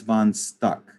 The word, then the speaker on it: von Stuck: It's called The Wild Hunt, and it's by Franz von Stuck. You know, it's just like it's spelled, VONSTUCK.